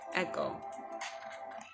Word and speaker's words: echo: the word echo echo sounds like it's should be spelled ek oh but it's not it's spell II see age oh it's not edge oh the word is actually a go sounding that CH sounds like a K echo another example word